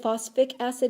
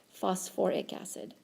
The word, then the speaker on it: phosphoric acid: so this is phos if you said phosphatic acid it would be correct but just know that by convention we keep that extra syllable in there that's phosphoric acid okay let's do the